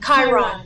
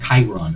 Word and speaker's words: Chiron: were referencing alzheimer's how did you say it chiron chiron okay and is that can you can you